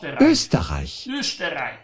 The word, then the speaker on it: Österreich: In Österreich. La O con quelle due puntini sopra si pronuncia E.